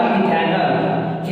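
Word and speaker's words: methanol: कर दिया जाएगा और इसको बोला जाएगा मिथेनॉल। इसको क्या बोला जाएगा, मिथेनॉल, ऐसा इसका प्रोनाउंसिएशन होगा, ठीक है।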